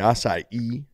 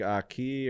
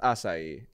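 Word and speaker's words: açaí: um passion fruit raspberry acai is a great word it is it's a healthy one some people say like aki or aci acai bowls don't know how to hit it it's acai it's got to be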